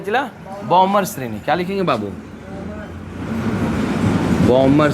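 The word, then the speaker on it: Balmer: बॉमर श्रेणी। क्या लिखेंगे बाबू? बॉमर श्रेणी। मतलब बाल्मर हिंदी लिखा था, अंग्रेजी साइलेंट रहना। बॉमर सीरीज आया है समझ में?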